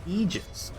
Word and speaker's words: Aegis: how Aegis is pronounced again oh it's actually pronounced egis uh let's let's not let's we could do